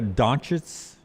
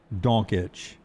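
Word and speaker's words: Dončić: Luca Donets, how did how I'm saying his last name wrong. Luca Don Donich. Donich donich. I'll just say Luca like jockitch. Think of jockitch but go donk. Donitch.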